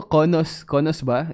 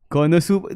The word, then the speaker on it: Konosuba: Oh, Konos ba? Is that how it's pronounced? Konos ba? Doro. Yeah, I know Doro. Konosuba. No, it's not Konos. Because I hear it on the anime. They say Konosuba.